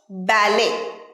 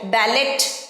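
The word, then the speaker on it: ballet: দা ডো পরের word ব্যালে ব্যালে লাস্টে কিন্তু টি আছে তাহলে সঠিক উচ্চারণ কিন্তু ব্যালে ব্যালেট নয় ব্যালেট নয় ব্যালে ব্যালে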